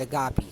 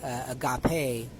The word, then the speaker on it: agape: both the Lima and Agapi so will and love you can also say Agape which is probably the better way to pronounce instead of Agapi so I regret pronouncing it that way anyway the point being